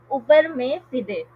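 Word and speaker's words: uberrimae fidei: इज a contract of उबर में फिदे। उबर में फिदे, मैंने खुद भी इसकी प्रोनाउंसिएशन देखी थी गूगल से, तो वही मैं बता रही हूँ, ठीक है।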